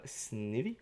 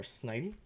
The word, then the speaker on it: Snivy: little fog we have snivy or snidey depending on how you pronounce it you have the